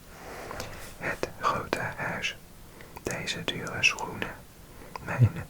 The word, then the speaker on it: grote: Pronunciation note: the final E is pronounced like the in father.